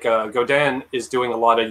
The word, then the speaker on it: Godin: As a Canadian, we would say Godin. Okay. Because they're based in Quebec. And Godin actually owns Seagull.